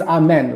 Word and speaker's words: Amen: me your name again my name is amen like after the prayer just pronounce slightly different but spell the same am m n okay I'm in yes